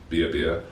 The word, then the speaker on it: BeoBia: So it's actually based on the Irish Gaelic word meaning food for life. So a bit like tomato. BeoBia, BeoBia. Sure, BeoBia then.